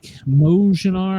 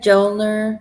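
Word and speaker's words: Mjölnir: The Thor, not Thor's, whatever the Mojnar. I can never pronounce it right. Jolnir, Joel. Is the M silent? Oh, nice one.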